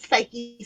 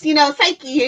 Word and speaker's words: Cyke: Oh, like short for Cyclops, Psyche and Jeannie. Well, it's pronounced Psych Summers. Nope, Psyche. No, because it's a silent E, because you're making it a long I sound in the Y.